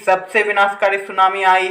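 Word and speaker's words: tsunami: तक की नियुक्ति शीघ्र मीरवाइज को सुनाओ टांडा सुनामी कहां-कहां चप कि सक्रिय था तो देखो अंग्रेजी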